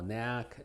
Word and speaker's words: knack: Y es muda generalmente antes de la N, como knack, new, knife, night, no, knock, knuckle.